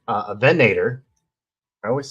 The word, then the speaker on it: Venator: Uh I've got a venerator a venator.